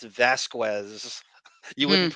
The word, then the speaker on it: Vasquez: I thought Camille at some point would go, Miss Bredehoft, it's Vasquez, it's Vasquez.